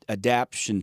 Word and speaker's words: adaptation: But really where the adaptation takes place, Adaptation. Yeah. You put the emphasis on the right syllable there. I was going to put it on the wrong syllable.